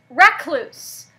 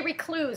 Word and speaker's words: recluse: And recluse. A lot of people will say recluse, and they'll pronounce it wrong. It's recluse.